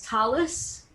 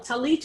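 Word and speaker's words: tallis: but if you've learned if you know that it's pronounced talus for a yiddish speaker or an american hebrew speaker and that's not influenced by israeli hebrew talis means there's no delegation that final tough and talit means there's no distinction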